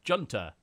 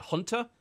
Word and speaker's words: junta: If you read it off, you'd probably just say, oh, it's Junta. Isn't it Hunter? A military hunter?